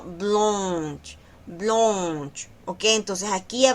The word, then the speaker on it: blanche: Así, blonch. Ahí también se respeta el sonido de esa on que está ahí. No es blong, sino blunch.